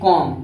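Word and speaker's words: calm: L silent होता है एम से पहले भी आता है ए तो एल तो साइलेंट होता है जैसे कॉम इसको क्या पढ़ेंगे सी ए एल एम नहीं पढ़ेंगे कॉल कॉलम नहीं पढ़ेंगे इसको कॉम पढ़ेंगे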